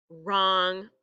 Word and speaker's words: wrong: Same thing with it if it sounds like it starts with an R. We have wreck, wrap, wrong. All of those have a silent W at the beginning.